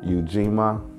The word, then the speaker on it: Ujima: The day of this event is day three of Kwanzaa, Ujima. I'm about pronouncing that right.